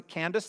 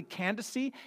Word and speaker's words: Candace: this name title Candace we would pronounce a Candace like that's the name that we would call but it's actually Candace E and it's not a